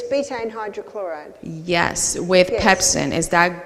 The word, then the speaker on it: betaine hydrochloride: the supplement bedding hydrochloric wait let me just pronounce that correctly it's betaine hydrochloride yes with pepsin is